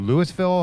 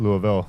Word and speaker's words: Lewisville: Aaron came up with a loop that would take us out to Lewisville, Ohio. And yes, in Ohio it's pronounced Lewisville, not Louisville, like down south.